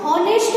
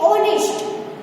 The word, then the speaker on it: honest: दूसरा हम देखें तो HONEST, अब इसको हम हॉनेस्ट नहीं कहेंगे, इसको हम क्या बोलेंगे, ऑनेस्ट। तो O से हम प्रोनाउंसिएशन करते हैं, तो इसमें हम H है वो क्या है, साइलेंट है।